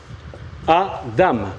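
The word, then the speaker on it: אדם: Nous avons donc 3 lettres. Aleph, Dalet, Mem. Ce mot se dit donc Adam.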